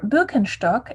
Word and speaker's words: Birkenstock: item a pair of birkenstock or bilkenstock as we say in german i'm in the process